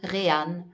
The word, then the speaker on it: Reyhan: Euh ah ben voilà, ça s'écrit comme ceci. R E Y H A N Ran.